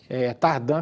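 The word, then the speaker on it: Tardin: Muita gente Tardan, a pronúncia mesmo, que é a família de origem suíça, né? Exatamente. Tardan que se fala, né? Tardim foi o Tardim, uns chamam de Tardim.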